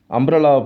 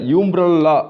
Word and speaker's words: umbrella: ஏன் சார் இதை யூம்ப்ரல்லா அப்படின்னு உச்சரிக்கக்கூடாதுங்க. ஏன்னா ரூலே என்ன சொல்லியிருக்கு, அம்ப்ரல்லா தான் உச்சரிக்கணும்னு இருக்குது. ப்ரொனன்சியேஷன் அது அம்ப்ரல்லா தான். அதனால் நாம் ஆன் யூஸ் பண்ணுறோம். நம்ம யூம்ப்ரல்லா படிக்கிறதில்ல, அம்ப்ரல்லான்னு படிக்கிறோம்.